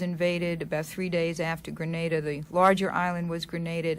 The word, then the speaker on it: Grenada: and a half before commentators on CBS could learn that Grenada is not Grenada which is in Spain to have how do